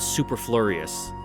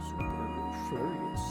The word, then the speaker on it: superfluous: So, and I know it's not superfluous. It's not that. I know it's not that. Google, save me. How do I pronounce my native language? We can do it. We'll learn together. Superfluous.